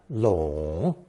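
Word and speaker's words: 拢: Today's fourth character based on the long phonetic adds the hand radical show to create third tone long.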